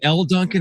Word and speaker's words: Elle Duncan: But is it Elle Duncan?